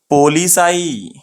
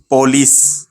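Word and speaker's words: police: ये जो वर्ड है पुलिस, ये रॉन्ग वर्ड हो जाता। स्पेलिंग राइट है, स्पेलिंग की बात नहीं कर रहा हूं मैं, प्रोनाउंसिएशन की बात कर रहा हूं। पुलिस नहीं, कैसा प्रोनाउंस करना है इसको? पुलिस, पोह, राइट, पोलिस, पोलिस, ये सही वर्ड है, ठीक है।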